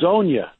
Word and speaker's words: Hezonja: Mario Hezonja, did I pronounce his name correctly? We've been going through that now during the commercial break. Pretty close. Hazonia. Not bad. Hazonia.